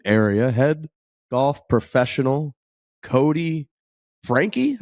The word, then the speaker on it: Franke: Head golf professional, Cody Frankie. I believe we pronounced the E is kind of what I'm understanding.